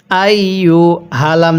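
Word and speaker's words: أيها: তাহলে ইয়া হামজা ইয়া জবর আই ইয়া পেশ ইউ আই হালাম জবর হাল এই গোল হা গুলো উচ্চারণ করার সময় মুখে একটু আওয়াজ করব এখানে আইুহাল এরকম ভাবে পড়বো না কিভাবে পড়ব আইহাল কাফ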